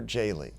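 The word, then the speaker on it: Jehle: Jaley. Now, J-E-H-L-E. Jaley, I said it right that time.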